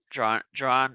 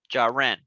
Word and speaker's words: Jaren: Jaron, is it Jaron? Is that am I saying it correctly? Jaron? Jaren. Okay. Well, correct me.